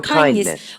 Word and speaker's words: kindness: I appreciate your kindness. 여러분 근데 아저씨 kindness 아주 부드럽게 잘하고 있습니다. 우리 같이 한번 들어볼까요? Kindness. Kindness. Kindness. Kindness. kindness 합니까? kindness에서 드 사운드 약화됩니까? 드 사운드 약화. 그죠?